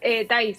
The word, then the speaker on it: Thaís: Thaís se dice, como con tilde en la pronunciación.